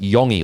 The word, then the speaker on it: Yongi: So, it's I I got told by two people it's pronounced Yongi, like a Y O N GI.